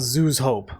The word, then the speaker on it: Zhu's Hope: go back to the colony which is called zo hope not as one would expect looking at it